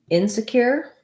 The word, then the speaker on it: insecure: And then when we add insecure, the stress is still on cure. You might have a little bit of stress on in if you're trying to highlight insecure versus secure.